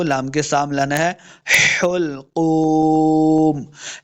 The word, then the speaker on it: حلقوم: کے سامنے لانا ہے۔ حلقوم، ح کو تلفظ کے ساتھ پڑھنا ہے۔ حلقوم، دو نقطوں والا قاف ہمیشہ موٹا پڑا جائے گا کیونکہ یہ حروف مستعلیہ سے ہے۔ قوف پیش واو، قو،